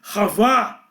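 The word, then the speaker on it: חַוָּה: tenho, porque na verdade se pronuncia com um som gultural de R, ravá.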